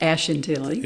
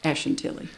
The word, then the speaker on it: Ashantilly: Simons there's a street Ashen Tilly Ash we tend to put a little bit more emphasis on that Ash Ashen Tilly now real quick with